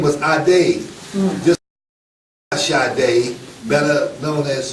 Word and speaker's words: Ade: And of all things, the man's name, his first name was A-D-E. How do you pronounce that?